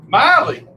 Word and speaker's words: Miley: Oh, it's not Myliah. What is it? Miley.